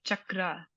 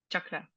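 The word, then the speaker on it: चक्र: sound it's it's like uh so it's like chakra uh chakra um another one is uh the goddess Sagi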